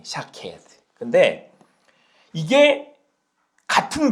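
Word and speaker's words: שָׁקֵד: 아몬드 나무는 원어로 샤케드래요. 발음이 샤케드.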